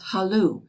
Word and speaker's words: hello: ring more than once they pronounce the word hello as though it were spelled halu with the accent on the last syllable and they never tell